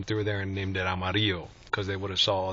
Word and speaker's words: Amarillo: come say it right, Amarillo by morning. Okay, Amarillo. That's how we say it in Espanol. It's amarillo. It means yellow.